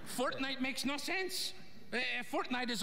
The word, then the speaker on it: Fortnite: Did you say fork knife? Fork knife. It's actually pronounced Fortnite.